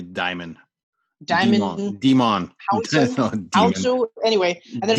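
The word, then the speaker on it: Djimon: Juba, Jimon Honsu? I'm not sure how to pronounce his name. The J's probably silent. It's probably Diamond.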